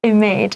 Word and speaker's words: image: I've heard a lot of times when students say image image it's image it's a short vowel image not image image